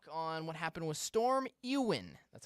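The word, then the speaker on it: Éowyn: uh Little Talk on what happened with storm Ean that's how you pronounce it storm Ewan which hit the UK in Ireland last Friday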